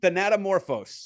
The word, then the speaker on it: Thanatomorphose: Thanatomorphose. Thanatomorphose.